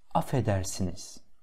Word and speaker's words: affedersiniz: Наше обращение, первое слово, affedersiniz. Как бы здесь два «ф» есть, но читается как-то только одно. Affedersiniz.